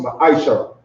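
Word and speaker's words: מעשר: Means tenth in Hebrew and is pronounced ma'aishara.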